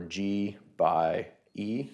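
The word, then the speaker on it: G×E: genotype by environment or G by E somehow the X is pronounced by in terms of how people say that where he simply grew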